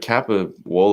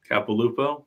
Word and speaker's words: Capilouto: it's it's and it's like kappa wall or something like that Capilouto Capilouto that's it I know there was an